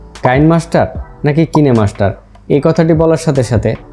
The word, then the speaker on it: KineMaster: আবার অন্যদিকে এটি যেহেতু একটি কোরিয়ান ওয়ার্ড, তাই কোরিয়ানরা এটির উচ্চারণ করে থাকে KINE, কিনে মাস্টার। তো যেহেতু কোরিয়ান একটি কোম্পানি এটি ডেভেলপ করেছে, তো এখন যদি আপনারা কোরিয়ান ল্যাঙ্গুয়েজে এটির মূল উচ্চারণ করতে যান তাহলে অবশ্যই আপনাকে কিনেমাস্টার উচ্চারণ করতে হবে।